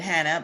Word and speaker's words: Chana: of my conversation with hannah by the way her name is spelled c-h-a-n-a-m for anyone that's listening the c is silent um yes but i'll